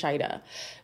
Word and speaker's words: Shaeeda: sheida because or shaida i think it's pronounced shaida because say something like